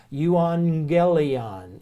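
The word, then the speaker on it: εὐαγγέλιον: I need to but any time you have to gammas together like that they're not pronounced as jeez they're pronounced as ng so that you go you on gayley on is the word so if you see two gammas together it's not a G sound it's an ng sound you on Gillian now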